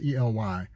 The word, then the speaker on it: Ely: that brother claude ely i think i said he pronounced his name it's ely um he was he was